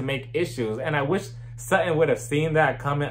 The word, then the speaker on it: Sutton: then right but because sutan is a woman sutton damn it i said her name wrong but because sutton is